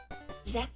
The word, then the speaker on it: Zephyr: Zephr. Zephr.